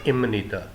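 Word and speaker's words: 입니다: वह है इम निता लिखने में तो है इप निदा प्रोनंसिएशन इसकी है इमनीदा लाइजेशन रूल के हिसाब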